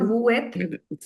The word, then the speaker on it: vous êtes: So we're going to pronounce the S. When S merges with the sound, when S merges with the vowel, the sound it produces is that of Z.